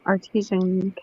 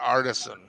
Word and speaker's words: artisan: artesian You're community. talking about artisan.